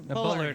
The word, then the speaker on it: Bullard: Is how you pronounce his last name? Bullard, yeah.